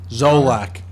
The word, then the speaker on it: Zolak: Scott, how do you pronounce his Zolak. last name? Zolak.